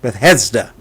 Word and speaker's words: Bethesda: by the the pool Beth Hester I believe is pronounced Bethesda um he had an